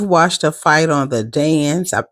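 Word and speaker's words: DAZN: you if you've watched a fight on the dance it's spelled D A Z N um it generally the um it's more reliable.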